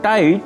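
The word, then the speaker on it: tight: আবার আমরা যখন হাই এবং টাইট ওয়ার্ড দুটি উচ্চারণ করছি তখন জিএইচ লেটার দুটি অনুচ্চারিত থেকে যাচ্ছে।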